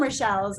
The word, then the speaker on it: Rochelle: Well, I mean, I know it's the French version of Rachel, so most people don't pronounce it correctly. So. Yeah, I've known some Rochelles in my life. I've had some friends and things that spell it how you spell it and that pronounce it like Rochelle.